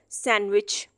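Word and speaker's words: sandwich: अगर डी से पहले एन लिखा हुआ है या फिर डी के बाद जी लिखा हुआ है तो डी हमेशा साइलेंट कंसीडर किया जाता है।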